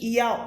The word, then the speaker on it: Yahweh: Então o nome do nosso Criador é Yahweh, Yud Re Vav Re, da pronúncia Yahweh, do Filho, Yahweh Shemashia.